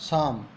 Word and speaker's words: psalm: द शाम को flight शाम डेढ पी साइलेंट प्यारे बच्चों यहां पर